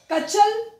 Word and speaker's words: Katchal: Nicobar island में है बच्चों टारेसा, नॉन कॉर्वे, कचल, little Nicobar and great Nicobar.